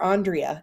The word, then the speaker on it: Andrea: say oh I'm Dr Andrea it's pronounced on you turn me on like a light switch and then Dre rhymes with tree because I love trees